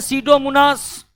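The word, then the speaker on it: Pseudomonas: रखना पड़ेगा एक है सीडो मनास सीडो मनास सीडो मनास का पी साइलेंट रहता है दूसरा है थायो बेसिलस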